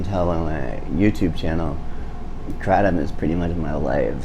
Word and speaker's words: kratom: the debate is it kratom kratom whatever in it comes from southeast asia in southeast asia the southeast asians call it kratom it's just they emphasize the tom instead of am or um it's chris hall and